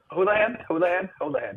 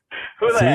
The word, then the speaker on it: Houlahan: Hey, thanks for listening to the Captain's Log with Kyle Bekker and Houlahan. Did I say it right? Hold on. Houlahan.